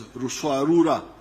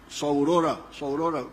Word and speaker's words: Ruswarura: came to understand as Ruswarura. When you read, I think it is Speak, Understand, they write Saurora, but they were mispronouncing the name.